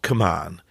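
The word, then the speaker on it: kmuan: when I coach and it's called come on it literally sounds like come on as if to say come on keep going but the meaning is keeps me up at night and it's spelled k-m-u-a-n come on so maybe it's your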